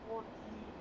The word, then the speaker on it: Torquay: Oh, so the town is pronounced Torquay, not Torquay.